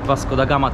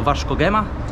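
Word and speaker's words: Vasco da Gama: произносим «Криштиану Роналду», и также оказывается, что это не «Васко да Гама», а «Варц Хема», так что, как обычно, Джума развлекает и учит.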